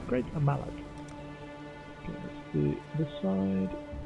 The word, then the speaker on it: Great Mallet: Is it pronounced Great Malay? Great mallet.